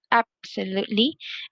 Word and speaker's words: absolutely: you can see um i stress the first syllable absolutely and then exhausted exhaust